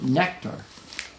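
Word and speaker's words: Nektar: him have problems here nectar and that's spelled any n-e-k-t-a-r is uh it was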